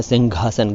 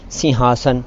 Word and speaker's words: सिंहासन: दोनों ही गलत हैं जी। सिंहासन भी इसका सही उच्चारण नहीं है और सिंहासन भी सही उच्चारण नहीं है। असल में ये घ तो है ही नहीं और सिंह कहकर छोड़ देना भी ठीक नहीं है। ये है सिंहासन।